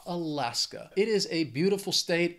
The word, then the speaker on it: Alaska: next state is Alaska it has three syllables the stresses on that second syllable that final syllable just has that schah Alaska it is a beautiful